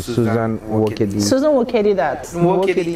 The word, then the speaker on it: Nwokedi: Nwokedi N is silent, so I'll spell that out for you. Susan, typical S-U-S-A-N Nwokedi is N. Nwokedi.